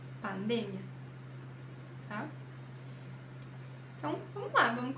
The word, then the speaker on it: pandemia: para aquela palavra mas quando vai pronunciar em espanhol pronuncia diferente porque ocorre uma mudança na sílaba tônica Ou seja a sílaba tônica em português é uma e a sílaba tônica em espanhol é outra ocorre essa mudança como pandemia em português em espanhol pandemia Tá então vamos lá